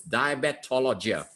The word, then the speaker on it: Diabetologia: in a journal called Diabetologia. All right, even the journal is difficult to pronounce. It's Diabetologia.